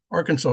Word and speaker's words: Arkansas: neighbors on the ar Arkansas river or as they pronounce it in Kansas, the Ar Kansas River in Kansas protected themselves and their horses in battle with leather armor.